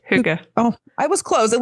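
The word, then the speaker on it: hygge: think Huga really means like what Huga it's pronounced Huga oh I was closed at least I didn't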